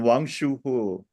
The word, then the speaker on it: Wang Shuhe: Ganito pag-pronounce yan, Wang Shuhu. Wang Wang Shuhu. Shuhu. Oo, Wang parang between O and E.